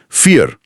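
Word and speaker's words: vier: यह आमतौर पर इंग्लिश के एफ जैसा साउंड करता है। एफ हां। जैसे नंबर फोर में देखा। फियर इसे वीर नहीं फियर बोलेंगे।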